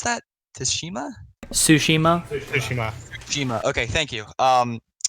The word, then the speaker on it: Tsushima: don't think was it - how do you pronounce that tis Shima Tsushima Jima ok thank you Tsushima um what was this thing anyway um yeah